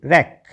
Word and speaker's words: wreck: WRATH रॉथ, WRECK रैक, WRENK रैन, ठीक है। WREN क्या बना रैन। WRY राई, WR में W साइलेंट।